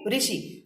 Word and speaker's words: ऋषि: अ ई उ ऋषि, है ना। री बोलते हैं उसको। ऋषि का जो रहता है उसका प्रोनाउंसिएशन होता है री करके होता है ना।